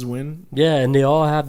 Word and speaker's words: Nguyen: Either they pronounce it like Win or what's the other? Nguyen. Nguyen. Yeah, Nguyen. It looks like it's pronounced Nguyen, but it's Win.